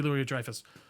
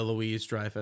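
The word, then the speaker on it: Louis-Dreyfus: Jo Julie Lou Drifus. That's terrible. I did not say her name right. But it's uh Julia Louise Drifus.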